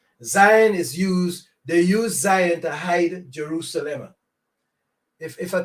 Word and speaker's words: Zion: T-S is that Z sound. That's why you get Zaire. The T-S is the Z, right? So T-S-I-J-O-N is the word that they're trying to pronounce here, which is Zion, a mountain of Jerusalem.